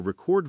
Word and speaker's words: record: Another one is conduct verb to lead versus conduct noun behavior or record verb to save sound versus record noun a piece of music or a history.